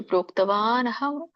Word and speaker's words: ಪ್ರೋಕ್ತವಾನಹಂ: ಉಪದೇಶಿಸಿರುವಂತದ್ದು ಅಂತ ಹೇಳಿ ಹೇಳ್ತಾರೆ ಇಲ್ಲಿ ನೀವು ಹೇಗೆ ಉಚ್ಚಾರಣೆ ಮಾಡಬೇಕು ಅಂದ್ರೆ ಪ್ರೋಕ್ತವಾನ್ ಅಹಂ ಅವ್ಯಯಂ ಅಂತ ಹೇಳಬಹುದು ಒಂದು ಎರಡನೆದು ಕೂಡಿ ಹೇಳಬಹುದು ಪ್ರೋಕ್ತವಾನಹಂ ಪ್ರೋಕ್ತವಾನ್ ಹಂ ಅವ್ಯಯಂ ಅಂತ